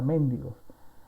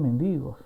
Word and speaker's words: mendigo: Muchas veces me he tocado con estudiantes que pronuncian la palabra mendigos, ¿no? La palabra es mendigos, ¿no? No es una palabra esdrújula, ¿sí? Entonces, no lleva tilde en la E, entonces no es mendigo, ¿no?